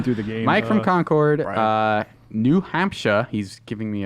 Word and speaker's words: Concord: my fourth time through the game Mike from Concord New Hampshire he's giving me a nice pronunciation gun I still messed it up it's